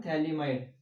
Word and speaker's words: phthalimide: It's nothing but potassium, potassium थैलीमाइड। Okay, PHTHALIMIDE, ठीक है ना। थोड़ा स्पेलिंग पे भी ध्यान दीजिए, अगर आई की जगह पे ए हो जाएगा, ए रहेगा तो थैलेमाइड बनेगा।